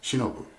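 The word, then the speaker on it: 忍: of my vlog episodes the kanji is shown on this wall scroll is pronounced shinobu in japanese and it means patience notice the kanji particles for blade and heart the chinese reading or onyomi for this kanji is nin it is used in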